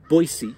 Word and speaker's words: Boise: the knights at Boise it's Boise is how the locals say it Boise State to get